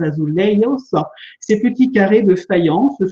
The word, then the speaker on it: azulejos: Je vous laisse apprécier l'utilisation des azulejos, la prononciation à la portugaise, azulejos, ces petits carrés de faïence, souvent bleus, mais pas uniquement.